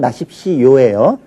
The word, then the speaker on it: 마십시오: 일단 발음은 마십시오예요. 왜냐하면 시 때문에 뒤에 오는 게 자연스럽게 요로 발음 나는 거예요.